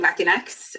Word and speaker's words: Latinx: or Latina um saying latinx um and how you pronounce it is Latin X or something along those lines um is the appropriate way to pronounce it um it's perfectly fine